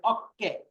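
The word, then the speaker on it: 어깨: তাহলে এটা ওকে হবে না, অক্কে।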